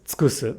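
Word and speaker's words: 尽くす: Now, because the second u here is between a k and an s, it should get devoiced, but again, it's okay to pronounce it as tsukusu because the downstep falls here.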